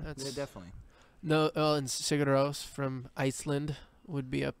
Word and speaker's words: Sigur Rós: Sigur Rós. Sigros? Yep. How do you spell it?